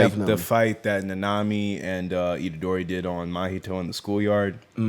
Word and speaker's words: Nanami: And especially like when he was fighting Nanami, I was about to say Nanamin. But that's like the cutesy way to say his name.